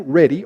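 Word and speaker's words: Redi: the story of francisco reedy some people pronounce his name ready r-e-d-i and he did an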